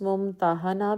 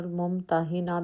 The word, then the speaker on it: ممتحنہ: 2 رکوع 13 آیات۔ اس کا تلفظ ممتحنہ بھی کیا جاتا ہے اور ممتحنہ بھی کہتے ہیں۔ پہلے تلفظ کے لحاظ